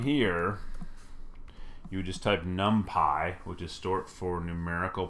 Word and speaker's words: NumPy: short for numerical Python, N-U-M-P-Y, NumPy. It is not NumPy. Nothing will frustrate me faster than you thinking you can mispronounce things just because you don't know how they're pronounced. It is NumPy.